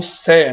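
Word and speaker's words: Say: É interessante a gente estudar aqui, por exemplo, um outro teórico clássico, né, esse Jean Baptiste, né, pronunciado como Sé, né?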